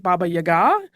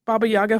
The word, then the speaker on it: Baba Yaga: Also a note on Baba Yaga, I have heard some people pronounce it Baba Yaga. It seems to be a little bit regional in how those play out. Baba Yaga flows a little more naturally for me, so that is what I am going with.